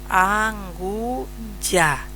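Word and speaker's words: anguja: Ya es ya, no es ja. Ya es la pronunciación. ¿Sí? Entonces pronunciamos nuevamente anguya.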